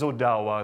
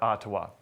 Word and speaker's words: Odawa: And it is Odawa, it's not Ottawa. right? But Odawa is the proper pronunciation.